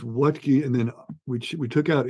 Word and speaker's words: Wuttke: the name it's not you taught me how to pronounce it what key but that's not how you spell it so audience here you